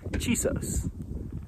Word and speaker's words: Chisos: And it's Chisos, the Chisos Basin.